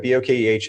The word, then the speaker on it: bokeh: Bokeh is a Japanese word originally, and that is technically the correct pronunciation.